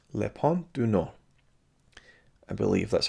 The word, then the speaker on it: Le Pont du Nord: was directed by jacques rivett and is called lepan du no i believe that's how you pronounce it the north bridge is the english